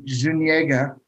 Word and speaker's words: Zuniga: Now that name you got wrong. Zuniga. Yeah. before we started taping, I asked Tony how to pronounce his last name because I wanted to make sure I didn't screw it up. Yeah, you got that right.